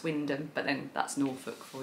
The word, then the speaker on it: Wymondham: from a place called Wyndham, but it's spelt Wymondham, but it's actually pronounced Wyndham, but then that's Norfolk for you, he'll say that.